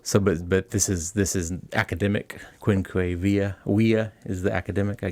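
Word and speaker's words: quinque viae: The quinquaviae. There it is, the quinquaviae. Even though it's spelled with a V, in Latin, V is W, like Yes, the German.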